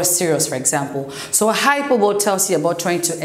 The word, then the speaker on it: hyperbole: So we're gonna start off with hyperbole. It's pronounced hyper, hyper, and then ball. So it's a hyperbole.